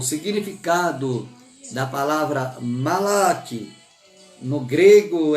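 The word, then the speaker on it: מלאך: Eu estou pronunciando aqui, irmãos, eu não tenho aquela pronúncia hebraica, tá? Aquele eu não faço. A minha pronúncia é português, tá? É malak. Eu estudei com um pastor, eu achava ele fantástico, porque a pronúncia dele era hebraica. Malak. Igual os judeus falam, eu não falo igual judeu, irmão.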